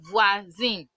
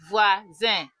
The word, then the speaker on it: voisin: So OI sound is wa. So voisin, voisin, voisin, voisin.